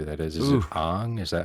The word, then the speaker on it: Aang: Is it Ooh, Aang? Is that how you pronounce it? Aang, Aang. Aang.